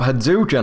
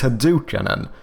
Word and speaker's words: Hadukan: Like, your name is Hadukan and it's like I just give up halfway through and I just go Haduken.